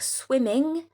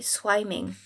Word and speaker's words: swimming: exemple swim et ben si vous rajoutez ing, vous allez écrire swimming avec 2 m parce que sinon la prononciation si on avait pas ces deux m la prononciation changerait et on dirait swiming.